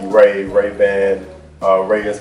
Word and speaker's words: Rhea: It's pronounced Ray. It's R H E A, but it's actually Ray.